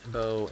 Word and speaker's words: Beau: name oh I'm sorry as in bow and arrow I always have to